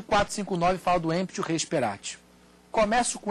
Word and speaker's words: speratae: Contrato de compra e venda, emptio rei sperati. Se escreve speratae, o final A-E, sperati, T-A-E no final.